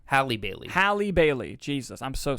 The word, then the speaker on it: Halle Bailey: more of the performances yes I missed I mispronounced her name in the end of the theater review Haley Bailey Hallie Bailey Hallie Bailey Jesus I'm so sorry Hallie Bailey